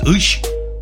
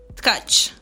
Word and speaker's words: Tcaci: and your last name is Ush? No. No. Tcaci.